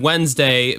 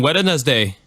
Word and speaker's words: Wednesday: know the word Wednesday my old boss from the Orange Park foodcourt Mall where I used to work he would like throw extra syllables until Wednesday to George can you come in wedding as day and it's like managed to put extra syllables in that word but anyway no that's